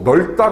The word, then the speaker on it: 넓다: 가지만 좀 더 본다면 넓다 같은 경우에도 보면 이 경우에도 리을 비읍 같은 경우에 뒤에 있는 음운인 리을 비읍에서 비읍이 탈락을 하고 리을이 이렇게 발음이 되죠. 그래서 이게 널이 되고 그 다음에 어미의 초성이 리을이 오는 경우에 뒤에 안 울린 예사 소리가 될 때 또 된 소리가 되거든요. 그래서 넓다라고 이렇게 발음이 되는 경우 그 다음에 우리가 외골